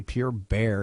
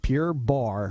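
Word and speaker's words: Pure Barre: Jamie thanks for having me I'm having problems pronouncing I keep want to say pure bear it's pure Bar right the first yes Pure Bar Pure Bar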